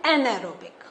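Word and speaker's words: anaerobic: बस आपका इन दोनों में क्या करना है? इसमें आपको एक एन प्रोनाउंस करना है, फिर एरोबिक आ ही जाएगा. एन एरोबिक.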